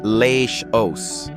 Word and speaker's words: Laos: Number five brings us to Laos, pronounced Le O, a laid-back landlocked nation of misty mountains, winding rivers, and gentle Buddhist calm.